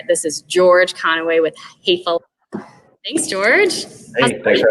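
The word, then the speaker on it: Häfele: So fele, pronounced fele. A lot of people get it wrong. I always just say it's like saying hey fella.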